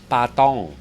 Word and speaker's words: Patong: Patong. Oh, well done. That was a pretty good pronunciation.